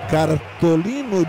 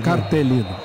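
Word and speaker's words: cartellino: É, em italiano seria cartolino giallo. Júnior, vocês que jogaram. Ah, então já fizeram ok aqui. A pronúncia não é bem assim. Cartelino.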